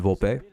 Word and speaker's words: Volpe: All right, I was saying it right. I was saying Volpe right.